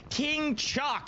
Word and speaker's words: King Chalk: King Chalk, that's how you say his name, and if you're saying it any other way, he doesn't want it, all right?